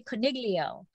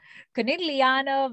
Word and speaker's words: Conegliano: see i would have i put that hard g in there i i say coniglio coniglia and so that's wrong right i'm sure i'm sure it's not supposed to have a hard g i'm sure it's not